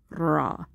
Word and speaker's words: ra: the only weird one because it already has an a sound so it's pronounced Raw um so little tidbit